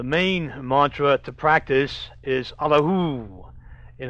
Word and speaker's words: Allahu: The main mantra to practice is Allahu, and I've already explained the pronunciation of Hu, with the first part, pronounce the ah deep in the heart region.